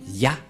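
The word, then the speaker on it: יה: Qu'on ne doit pas changer, car dès que vous voyez les formes Yod et He, vous le prononcez directement Yah.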